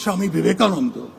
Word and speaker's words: Swami Vivekananda: It is pronounced Swami Vivekananda, but Hindutva wasn't created.